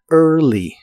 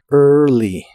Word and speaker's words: early: early que significa temprano no se pronuncia la a de esta palabra el principio se pronuncia como er pero con tu lengua muy atrás y debe sonar como monstruo ear early early y es hora de